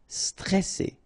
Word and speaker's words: stressé: Okay, remember you get double S here, so you pronounce it really strong while it's between two vowels. So C, alright, and then here you get this E before the double S, so it will open the pronunciation of the E.